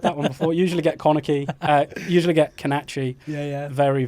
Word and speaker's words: Connachie: How do you pronounce your second name, by the way? Is it Connachie. Connachie.